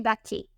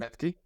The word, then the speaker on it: Bethke: It's actually Bethke. The last name is pronounced Bethke.